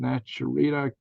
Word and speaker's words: Naturita: All right, Colorado Jen, Naturita, Naturita. Sounds like Juanita.